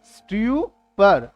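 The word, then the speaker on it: stupor: स्ट्यूपर, स्ट्यूपर, correct pronunciation स्ट्यूपर।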